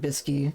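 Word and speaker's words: Bsky: I do like that everyone just pronounces it Bisky. Yeah, it's Bisky.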